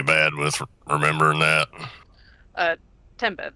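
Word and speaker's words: timbre: Uh, timber. That's t i m b r e. Like Okay. Like like what what you say when a tree falls. Yeah. Pronunciation wise.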